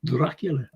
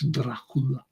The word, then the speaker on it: Dracula: know everyone but his proper pronunciation is not dracul it's Dracula Dracula and that's the way